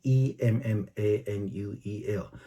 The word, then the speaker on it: Immanuel: 希腊文的翻译咱共款念做 Immanuel 哈，那但是发音是 Emmanuel。